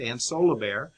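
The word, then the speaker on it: Ansolabehere: But then the authors or the creators of the data collection project used by Richman and co-authors, Ann Solobair, that's a tricky one, but it's pronounced Ann Solobair, Lux and Schaffner, they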